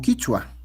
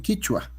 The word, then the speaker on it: quichua: así como nosotros pronunciamos, el resto de las variantes del quechua eh pronuncian como quichua. llámese tanto en Bolivia, en Ecuador, el el quechua amazónico y norteño le dicen quichua, no quechua.